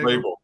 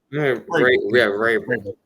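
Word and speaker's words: Vrabel: How you pronounce the name? What's the coach's name? Yeah, Rabel. Rabel.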